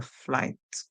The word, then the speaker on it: flight: So for spelling purposes, you have to remember that the GH is there, that it is silent. Otherwise, you would go ahead and spell the word like this, and it would not be correct. And that's what a lot of persons do. So you'll spell the word FLIT, and that would not be correct.